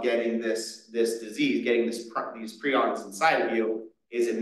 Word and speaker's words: prions: matter that's contaminated with prions, or prions, I've been told I was pronouncing it wrong before, prions are basically misfolded proteins that cause the other proteins around them to misfold.